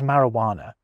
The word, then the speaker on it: marijuana: Now, obviously in its native Spanish, that J would be making a charismatic H sound, but in English, it isn't really doing anything. Take it away and you get Mari Wana. It certainly isn't making its usual J sound or its occasional Y sound. So, I reckon that does count.